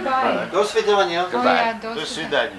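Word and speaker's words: до свидания: Do svidaniya.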